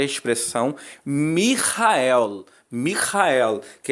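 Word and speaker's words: מיכאל: que nós temos na verdade é a expressão mijael Michael que é exatamente como está aí na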